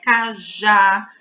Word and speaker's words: cajá: Cajá, pará. Percebam que em cajá, a sílaba forte é o já, porque é ela pronunciada com mais força.